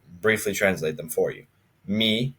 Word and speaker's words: mi: Me is pronounced me in Polish. It's the exact same, just maybe a little bit faster.